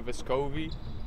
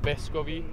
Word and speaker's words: Vescovi: Back home, it would be Vescovi, like the accent would be on the first E instead of the O, like people say here.